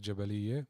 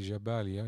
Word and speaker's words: Jabalia: of gaza strip jabalia it's the same word but sometimes we pronounce it different here in jaffa we'll call it jabaliye but it's actually jabalia it's written in arabic